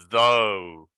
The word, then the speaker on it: though: Here with a T, thought. Without the T, though. Why?